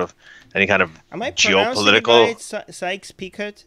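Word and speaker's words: Sykes–Picot: any kind of geopolitical sykes-picot is that how you cite sykes-picot picot so the T is silent yeah - solid yeah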